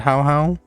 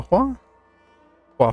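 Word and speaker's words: Huohuo: right now, I've been rocking since I got How How. Or not How How. You forget how to pronounce his name. Hua Hua? Hua Hua.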